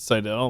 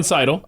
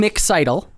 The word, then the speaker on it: Seidl: Wait, do you get offended when people pronounce it Seidel? Like, I think I did probably. I no. You just let it go? It's a term of endearment from you, Keith. Oh. Okay, so Seidl.